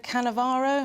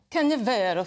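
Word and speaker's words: Canavero: of a recently deceased donor, Italian neurosurgeon Sergio Cannavaro, am I saying it right? Cannavero, thank you.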